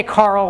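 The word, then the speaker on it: Karel: And some people say Carl, which is kind of actually closer to, I believe, if, I don't know if there's anyone who speaks Czech in the room, but closer to the actual pronunciation. But we say Carol these days because it's kind of like gender neutral.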